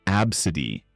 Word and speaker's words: ABCDE: Naming their kid ABCDE pronounced Absidy.